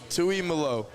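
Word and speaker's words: Tuimoloau: You asked me like three times his pronunciation. Let me Hold on. Hold on. I got you. Tui Mallalo.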